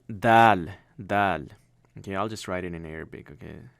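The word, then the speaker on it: دال: That's how dal is. Okay, dal is just like how we pronounce the.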